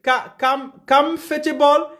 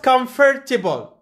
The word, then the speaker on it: comfortable: So, for the word comfortable, it's not comfortable. We say comfortable. This is first syllable or the first syllable.